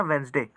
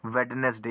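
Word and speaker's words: Wednesday: आपको याद रखनी है इधर जो वेनसडे है ना वेनसडे इसे आप वेनसडे भी कह सकते हो और वेडनेसडे यानी दोनों तरीके से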